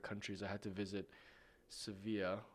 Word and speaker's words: Sevilla: I had to visit Sevilla, or Seville, as they pronounce it here.